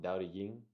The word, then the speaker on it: Tao Te Ching: No, it's pronounced Tao Te Ying, but it's spelled Tao Te Ching, I think. It's spelled with I think it's spelled with a D here. Or no, it's spelled with a T, but it's pronounced with a D.